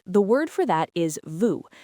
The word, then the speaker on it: vous: Right, the word for that is vous, v o u s.